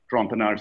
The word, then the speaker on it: Trompenaars: There's a very famous, and there's a YouTube video of von, it's pronounced as F-O-N-S, Trompenaars, I have spelled out here, T-R-O-M-P-E-N-A-A-R-S.